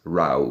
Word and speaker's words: row: Yes, row, because this is the way to pronounce kłótnia.